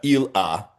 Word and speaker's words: Ila: Ila uh Ila is the way it's pronounced in Hebrew in the name of Rabbi Elazar, son of Rabbi Shimon."